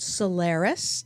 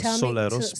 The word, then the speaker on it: Solaris: he also has his own group now called Solaris. Did I pronounce that properly? Very close. Soleros, but thank you.